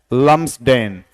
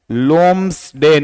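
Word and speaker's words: Lumsdaine: नाम किसका रहता है, लम्सडेन। इसका उच्चारण क्या है, लोम्सडेन। इसमें ये बी रहेगा साइलेंट। जैसे हिंदी में लिखूं तो इसको ऐसे पढ़ा जाएगा, लोम्सडेन।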